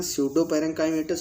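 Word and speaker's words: pseudoparenchymatous: ये P silent है यहाँ, स्यूडो पैरेंकाइमेटस और पैरेंकाइमेटस लिखा हुआ है।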